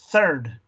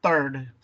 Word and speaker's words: third: Acuérdense que les comenté sobre la fonética, clase que vamos a tener, donde pronuncias th, ¿verdad? Third, ¿verdad? No third, third.